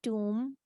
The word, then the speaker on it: tomb: and B are together, so we will not say the b sound, like in com or tomb or what else, bomb.